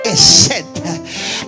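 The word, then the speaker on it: חסד: ¿Sabe que la palabra misericordia en hebreo se pronuncia Hesed?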